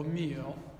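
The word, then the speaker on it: μύω: La parola mistero viene dal greco mysterion, che a sua volta viene dal verbo myo. Myo, vedete che per pronunciarla devo chiudere la bocca, myo, vuol dire fare silenzio.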